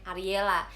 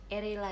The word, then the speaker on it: Ariela: Erela dipanggilnya.